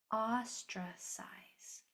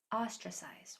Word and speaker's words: ostracize: This syllable is accented. So we have a s o tra austra keeping this one accented. So it said more strongly. Ostra s i size. Ostracize ostracize y or a.